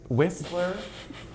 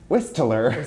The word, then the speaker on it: Whistler: There is a T. Don't pronounce it.